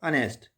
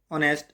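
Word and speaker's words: honest: तो यहाँ पे एच से स्टार्ट हो रहा है बट एच is silent. अनेस्ट जो है वो एच से स्टार्ट हो रहा है लेकिन एच जो है वो साइलेंट है, इसलिए अनेस्ट पढ़ा जा रहा है और वोवल साउंड आ रही है।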